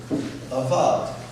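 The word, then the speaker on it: אבד: And that word is avad. But notice not this avad. It's an Aleph Bet Dalet, not an Ayin Bet Dalet. You see that? But pronounced exactly the same way.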